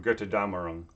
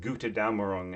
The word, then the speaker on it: Götterdämmerung: Analysis of third act of Götterdämmerung, which reminds me of somebody. There was this Wagner fan who kept pronouncing it Gute Dämmerung, and I kept a straight face.